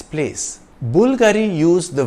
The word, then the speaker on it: Bulgari: sotirio Bulgari in Italian the emphasis is on the first part of the name Bulgari the Bulgari logo is